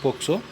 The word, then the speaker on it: POCSO: We want to pronounce that POCSO.